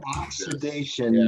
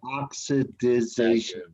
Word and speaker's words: oxidation: i'm dealing with yeah i like oxidation not oxidization you're adding an extra syllable in there so just say oxidation everybody say occupation oxidation